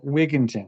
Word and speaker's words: Wigginton: Um, correct me if I say your last name incorrectly, but it's a it's Wigington, right? Correct. Yes. You say it like that. Okay. Just like that.